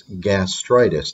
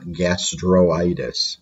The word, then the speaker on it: gastritis: So it's gastritis, not gastroitis.